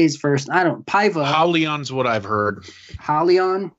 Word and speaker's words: Paiva: Paiva. Hollyon's what I've heard. Hollyon? Hollyon okay. Paiva. Hollyon Paiva knocks out Mark De La Rosa in the second round. Man, just the Paiva was just obviously the harder puncher here.